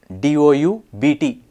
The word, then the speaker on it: doubt: noot silent k doubt d o u BT it's a silent B it's not dut it's doubt muscle has